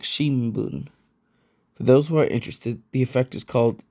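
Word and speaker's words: shinbun: another example of this word for newspaper Shin Boon which sounds more like Shimon for those who are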